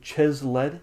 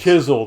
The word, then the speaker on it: Chiseled: And the game has been developed by Chesled. Is that how you pronounce your That's nickname? that's kind of my in-game name, Chiseled. It's Chiseled. Okay.